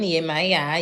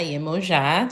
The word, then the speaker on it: Yemaya: So Geminis are ruled by Mercury, and Cancer is ruled by the moon, Yemaya, Yemoja, depending on how you want to pronounce it.